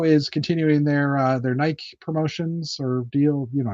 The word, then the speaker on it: Nike: I took Greek. It's Nike. I promise. All right. Uh LEGO has officially revealed the next set of uh their next set in their multi-year partnership with Nike.